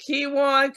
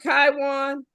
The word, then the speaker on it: Kywon: you say your name is it kiwan kaiwan say it right the second time so think of Taiwan with a K Kwan Taiwan oh yes